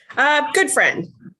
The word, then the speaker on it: Gutfreund: Gutfreund. Gutfreund, is that how you say it? Good friend.